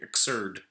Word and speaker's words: Xrd: so I don't know xrd exur sounds like absurd sign limited box so